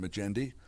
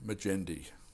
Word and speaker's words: Magendie: I spoke with Magendie at the annual literary conference On the Brink, held at Jacksonville State University. Magendie, is that right? That's right. And it's pronounced with that nice soft G because why?